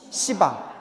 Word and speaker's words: 시방: 우리 10방이라고 발음 안 한다고 했잖아요. 뭐 같아서? 욕 같아서. 그래서 쓰기는 쓰지만 발음은 뭐라고요? 시방. 모든 공간이란 뜻이에요.